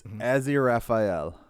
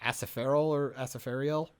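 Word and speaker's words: Aziraphale: So that the one dude's name, how you pronounce it, is Azir Raphael. Okay, there you go. Because I think they say it like Asafariel or something like that in the show. I don't know, but it's really hard. Like Well, the proper pronunciation of it is what I said.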